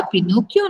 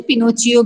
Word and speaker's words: Pinocchio: उसने बोला मैं इसका पिनोकियो नाम रखूंगा। कहीं पे आपको इसकी प्रोनाउंसिएशन पिनोचियो भी समझ में आएगी। ठीक है, पिनोकियो, पिनोचियो।